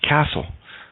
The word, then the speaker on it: castle: T is silent in debut, ballet, and, oh, look at that, castle. Funny how that works. U is silent in blood.